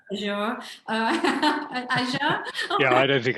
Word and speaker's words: Azure: some of the tools, which I pronounced wrong, Nick. So it's actually Azure.